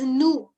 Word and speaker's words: nous: We is pronounced as nous. As I've always kept on telling you, in French, normally we do not pronounce the last consonant. So here we are not pronouncing the last S.